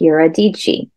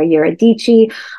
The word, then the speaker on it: Eurydice: Now, most people are familiar with Orpheus from his love story with Eurydice. Now, again, this is another name that I've heard pronounced multiple ways. I've heard some people call her Eurydice.